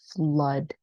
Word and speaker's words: flood: um just one thing the third word should be pronounced flood okay flood so it's in like uh blood like the word when